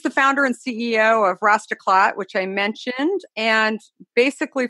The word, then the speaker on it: Rastaclat: to have daniel cassidy founder and ceo of rastaklat nice to did i pronounce the name right you got it perfectly